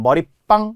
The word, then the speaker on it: 머릿방: 머리방은 발음의 변화가 없기 때문에 시옷이 안 들어가는 거죠. 머리방. 단 머리빵. 이렇게 빵이라고 되는 소리 나니까 시옷이 들어간다는 거예요.